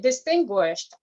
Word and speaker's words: distinguished: So let's say, for example, the word distinguished, you have to pronounce the final sound t, distinguished, and then please, hotel.